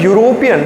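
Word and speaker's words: European: जब हम इसको प्रोनाउंस करते हैं यूरोपियन तो यू का साउंड आ रहा है। यू हमारा कसोनेंट साउंड है ना कि वोवेल साउंड।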